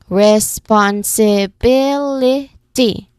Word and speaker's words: responsibility: Now in responsibility we don't emphasize t or lee. We go to the third syllable from the end which is bill. Try clapping it out. Responsibility.